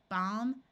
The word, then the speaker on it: balm: doesn't change the sound of the root calmly balm and PMs notice the p is silent two words follow this pattern with a